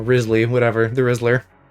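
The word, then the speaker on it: Wriothesley: It's spelled Riothsley, but I don't think that's how you say it. It's like, I don't know, Risley, whatever, the Rizzler.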